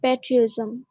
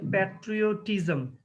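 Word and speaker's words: patriotism: student and social service আর প্যাট্রিজম উচ্চারণটা আরো সুন্দর করতে হবে students and social social service আর হচ্ছে প্যাট্রিওটিজম এনিওয়ে তানিয়াকে অনেক ধন্যবাদ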